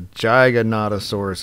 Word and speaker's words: Giganotosaurus: Now I always call him a Giga or a Giganotosaurus, but it's a Giganotosaurus is how you say it. And there's a pronunciation, Giganotosaurus, meaning giant southern lizard.